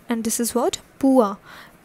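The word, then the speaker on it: pois: e t i t s and it is pronounced as patit and this is what pua p o i s next is also in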